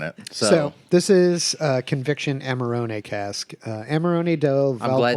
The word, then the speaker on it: Amarone: So, this is Conviction Amarone cask. Amarone del I'm glad that Valpolicella. you pronounced Amarone because I was just going straight with Armorillo.